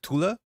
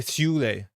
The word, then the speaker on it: Thule: I think Thule is named after the Swedish city now, which is pronounced more like Thule. I don't know, Gyro. I'm not 100% sure. I think on the pronunciation guide that went up on Forbias, it did say Thule.